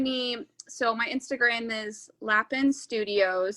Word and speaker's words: lapin: So my Instagram is Lapin Studios. That's not how you say it in French, but it's how we say it in America, I guess.